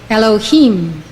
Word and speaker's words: Elohim: usually yudhave of hey is pronounced Adonai meaning Lord when associated with Bina it is pronounced Elohim Elohim according to Rabbi green